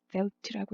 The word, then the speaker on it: Veldt: 이 스펠링이 T가 있어도 없어도 되고요. velt라고 읽습니다.